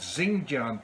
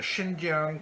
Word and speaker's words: Xinjiang: language as well so where there is an X so it is pronounced as she so President Xi Jinping as well as when we talk about China's Xinjiang province it is not zinc giant province so it is